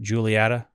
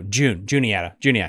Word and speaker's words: Juniata: I said that right. Julietta? No, Juniata.